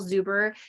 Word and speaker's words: Zuber: I am super uber excited. It kind of rhymes with your name, actually.